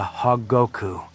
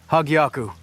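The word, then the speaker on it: Hōgyoku: Their leader has magic rocks called Infinity Stones and something called a hogoku. Hagyaku, say it right, dummy.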